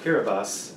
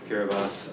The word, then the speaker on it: Kiribati: the central pacific called kiribati it's spelled like kiribati but that is a